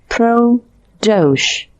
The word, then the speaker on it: Pradosh: it matches your profession pradosh pronounced pro-dosh pro stands for professional and dosh is the bengali word for crime the c is to